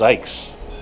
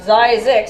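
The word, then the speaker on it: Zzyzx: I heard it's pronounced Zykes. No, it says Zizix at this, like, the guy who founded it. Right. There's a little thing that he drew up. It says, pronounced Zizix.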